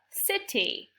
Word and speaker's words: city: Here we have the city. The C makes the S sound because there's an I right after it.